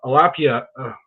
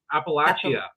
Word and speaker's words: Appalachia: communities from Alaska to Alapia. How do you say that, Andrew? I was well, that's what we were told. But when I was watching the United Shades and Kamau was there, it was Appalachia.